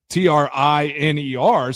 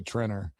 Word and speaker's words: Triner: by Triner like I think it was actually pronounced Triner but it was T R I N E R.